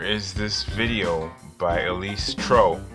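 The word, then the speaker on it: Trouw: this video by Elise tro rhymes with snow and this is just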